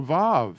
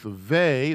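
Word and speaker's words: וְ: line two we have the vav could be pronounced with vey there's a vey or a va of a again uh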